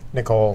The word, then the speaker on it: Nicole: That's not how you pronounce my name. Nicole? Nicole. That's how you say Nicole.